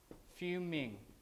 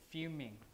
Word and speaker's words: fuming: it we say few fuming like that fuming just like when we pronounce the word few we usually have the y right few like that